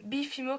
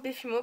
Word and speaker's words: Befimo: Donc en fait il y en a qui croient que c'est Bifimo Création. Ça me dérange pas que vous faites Bifimo, ça me dérange pas. C'est moi je le prononce Befimo parce que Befimo Création. Parce que en fait donc. Et mes amis des fois ils écrivent, B-E-F. Donc et il y a une